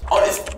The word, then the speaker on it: honest: دخلناك على طول تمام حلوة كلمة honest honest بتبدأ بالإتش ولكن لا تنطق فتأخذ an honest ما نقولش ما نقولش ده حرف إتش ساكن ناخد لا إحنا بناخد لأن الإتش مش بتنطق فبننطق الأو والأو صوت